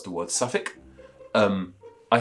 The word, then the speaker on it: Suffolk: to pronounce the word Suffolk um I say that subject I can't say it's like s-u-v-i-c-k Civic but if you see how that word spelled it doesn't look like it's pronounced that way and hermioneer for example